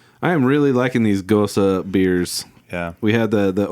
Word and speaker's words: Gose: It's GOSE, but I've learned, I think even on this can it says the correct pronunciation is Gose.